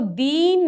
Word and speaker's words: दिन: तो दिन, इसको क्या पढ़ेंगे, इसको दीन नहीं पढ़ेंगे, ठीक ना, इसको पढ़ेंगे दिन।